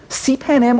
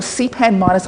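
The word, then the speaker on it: cpanm: the author of this called c p m cpan m or cpan minus I kid you not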